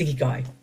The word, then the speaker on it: ikigai: the Japanese called your ikigai. I think I've totally mispronounced that, by the way. I think it's ikigai. It's ikigai. So ikigai is a Japanese term.